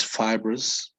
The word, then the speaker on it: fibrous: come from comes from fiber right so it's fibrous right okay so uh could you well a